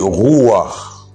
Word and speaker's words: ruach: Dans l'Ancien Testament, on ne dit pas pneuma, on dit ruach, ruach. C'est-à-dire qu'il y a le guttural, l'aspect guttural prononcé dont il faut tenir compte. Je ne le prononce pas comme ça, je suis en train de le prononcer en français.